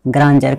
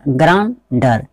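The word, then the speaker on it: grandeur: अब यहाँ पे एक वर्ड है, यहाँ पे ग्रांजर, इसको क्या पढ़ेंगे, ग्रांजर, जो है GRANDER, इसको हम क्या बोलते हैं, ग्रांजर। कई अधिकतर स्टूडेंट को हम अगर वो उच्चारण नहीं जानता हो तो को क्या पढ़ेगा, इसी यही पढ़ेगा, ग्रांडर, ग्रांडर पढ़ेंगे। तो ये उच्चारण गलत होगा, क्योंकि ग्रांडर नहीं होगा, क्योंकि हम यहाँ पे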